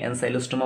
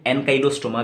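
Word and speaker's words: Ancylostoma: एनसाइलोस्टोमा भी प्रोनाउंस कर सकते हैं, मैं एनसाइलोस्टोमा बोलता हूँ, और कोई कोई लोग एनकाइलोस्टोमा भी बोलते हैं।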